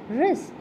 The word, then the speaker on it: wrist: Fourth one, wrist. The silent letter here is W.